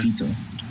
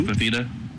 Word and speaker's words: Fifita: And how do you pronounce this guy's name? Fifita? Noah Fifita. Fifita. Noah Fifita.